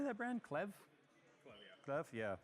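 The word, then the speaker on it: Klevv: Clev, yeah.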